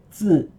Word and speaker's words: 字: You know, 自己的字, when you pronounce 字, you see vibrate. You see your throat is vibrating.